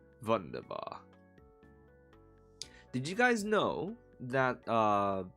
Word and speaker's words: wunderbar: Wunderbar. Did you guys know that apparently in German the W is pronounced as a V? I did not know that before. Apparently that's a thing. So it's not wunderbar, it's wunderbar.